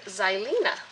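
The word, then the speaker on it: Xylina: once I open it and I named her zylen which is spelled x y l i n a my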